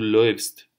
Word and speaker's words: läufst: А умляут и у читается как ой. Соответственно, ты бежишь, будет du läufst.